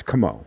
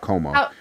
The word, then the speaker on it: Como: It's Como, not Como. Perry Como, okay. Como. Right. So everybody's putting the emphasis on the wrong syllable.